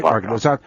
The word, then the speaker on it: Soebarkah: So it's soy. The E is strong. Soebarkah. That's how I've been taught to say it.